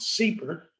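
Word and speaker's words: SIEPR: and environmental policy research affectionately called seeper now this is mit seeber which i have to tell the stanford people we have a cpr as well but it's spelled differently s-i-e-p-r stanford institute for energy policy or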